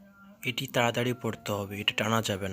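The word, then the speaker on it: ح: 6 নম্বর হরফ হা। হাকে গলার মধ্যে একটু চাপ দিয়ে উচ্চারণ করতে হবে এবং 1 সেকেন্ড টেনে পড়তে হবে। হা হা হা হা। আসলে এই হরফের উচ্চারণও তেমন বাংলায় আসে না, তবু একটু দেখাই দিচ্ছি বোঝার জন্য।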